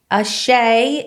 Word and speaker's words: Asé: it definitely gets butchered it's a hard one to say a shay is actually an African word and what it means